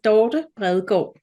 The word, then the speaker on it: Dorte Bredgaard: Well, if you want to pronounce it in Danish, it's called Dorte Bredgaard.